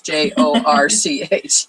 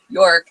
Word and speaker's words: Jorch: So when you think York, it's not what you think. It's Jorch. Exactly. Yeah. So if you're looking for Jorch, it's Jorch.